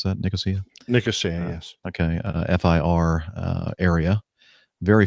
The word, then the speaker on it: Nicosia: Is that the way you pronounce that? Nicosia? Nicosia, yes.